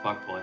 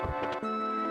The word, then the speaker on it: Fukboi: No, it is pronounced fuckboy. Let's not delude ourselves here. It is just pronounced fuckboy.